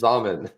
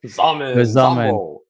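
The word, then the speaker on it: Xaman: I know it rhymes with ramen. It was Zamen. Zamen.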